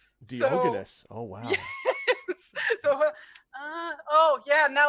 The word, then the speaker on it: Diogenes: Yeah, because, in English, you pronounce all the names differently. So, it always, because in German, you would pronounce him Diogenes. Diogenes.